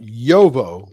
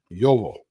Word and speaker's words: JOWO: of the tip is spelled JOWO if you were doing it in English, but it actually is pronounced JOWO because it's German. JOWO.